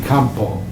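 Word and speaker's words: Campau: It should actually be Campo. Campo. But people say Joseph Campo, Joseph Campo, Campo A-U on the end.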